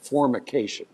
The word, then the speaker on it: formication: By the way, the word for that, zingers, is called formication. I love that word. It's spelled with an M. You have to purse your lips when you say that one.